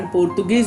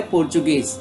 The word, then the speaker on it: Portuguese: अब यहाँ पर स्पेलिंग में बच्चों आप देख रहे हो PORTUGUESE, तो आपको ऐसा लगता है कि इसका उच्चारण पोर्तुगीज भी हो सकता है, लेकिन नहीं। इसका हमें ध्यान देना है कि यहाँ ट नहीं है, त नहीं है, यहाँ च है, पोर्चुगीज।